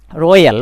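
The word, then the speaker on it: royal: একইভাবে রয়্যাল, লক্ষ্য করুন এই ওয়াইয়ের পরে এই লেটারটা আমাদেরকে আ, অর্থাৎ বাংলা আকার বা আ ধ্বনি দিচ্ছে।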